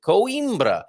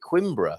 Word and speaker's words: Coimbra: you pronounce coimbra and that's exactly how i pronounce it coimbra um but you know the doc who joins me on a wednesday from time to time he calls it quimbra which has always um amused me quietly and